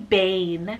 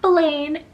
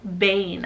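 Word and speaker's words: Baine: i have the name bane so b-a-i-n-e bane not blaine bane i think this is too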